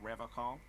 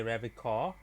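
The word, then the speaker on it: Revachol: is you say Ravi call I like to pronounce it the hard way right the old way the Vesper time way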